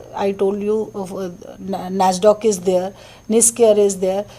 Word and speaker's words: NASSDOC: NASDOC. How do you spell it?